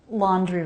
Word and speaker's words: laundry: The word laundry is interesting because it has a DR cluster. And often Americans pronounce the DR cluster so it sounds like JR. J. Laundry. J. Dri. You can make a DR cluster dri, but you don't have to.